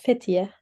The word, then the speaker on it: Fethiye: How do you pronounce that, Ume? It's Fethiye.